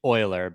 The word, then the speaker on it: Euler: Well, technically Euler, even though it looks like Euler. It's after that. Yeah, you look up the German pronunciation.